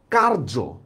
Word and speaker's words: কার্য: কার্য, দেখেন অন্তস্থীয় জ আছে কিন্তু উচ্চারণটা করতেছি আমরা বর্গীয় জ।